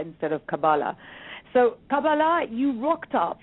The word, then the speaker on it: Kabbalah: So and obviously I'm pronouncing this incorrectly because you're saying Kabbalah instead of Kabbalah.